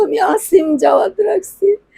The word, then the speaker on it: আসিম: দেখতেছি ফেসবুকে বিভিন্ন চ্যানেলে আমার ছেলের নাম হচ্ছে আসিম জাওয়াল আমার বাবার নামটা আমি রাখছিলাম সবাই বলে অসীম অসীম এগুলো সবাই মিডিয়াতে বলতেছে অসীম অসীম আমার বাবার নাম তো আমি আসিম জাওয়াদ রাখছি না আমি